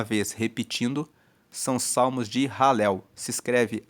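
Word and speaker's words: Halel: Esses salmos, mais uma vez repetindo, são salmos de ralel. Se escreve H a L e L.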